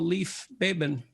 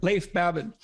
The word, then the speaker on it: Leif Babin: the dichotomy of leadership with fellow retired seal Leaf Bateman if I don't pronounce that right it's actually Lathe for Babin oh so I didn't pronounce it right at all Leif Babin he hosts a weekly podcast with Brazilian Jiu